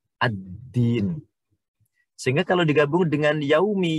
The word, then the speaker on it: ad-din: Sehingga ada alif lamnya, sehingga membacanya nggak boleh kita dengan al-din. Tetapi dimasukkan ke dalnya sehingga menjadi ad-din.